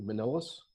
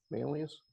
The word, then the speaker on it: Manlius: stuff you know um manliness I think I never pronounce it correctly manila's Manlius New York yep um so I